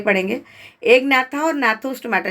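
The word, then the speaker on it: Gnathostomata: एक नाथा और नाथोस्टोमाटा, जी साइलेंट है इसमें, तो उसको नाथोस्टोमाटा नहीं बोलेंगे, नाथोस्टोमाटा बोलते हैं।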